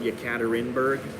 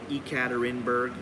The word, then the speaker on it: Yekaterinburg: to a place called yekaterinburg or ekaterinburg they say both ways or spell it both ways and it was minus